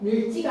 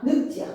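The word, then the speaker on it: 늙지: 늘지가 아니라 늑지야. 무조건 외워야 돼.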